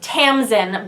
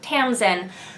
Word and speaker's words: Tamsin: the book Finch is Tamsin by Peter s beagle which is spelled differently from the first name of this author but pronounced the same anyways I think this